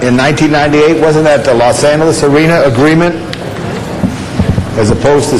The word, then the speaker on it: Los Angeles: okay los angeles arena and that's pronounced los angeles thank you all right